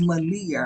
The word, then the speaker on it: Malaya: and then being that Malaya's going back, and somebody, hey Lisa, and then somebody brought up her name is pronounced Malia. I'm like, I know it's pronounced Malia, but I call her Malaya I because the didn't truth disagree.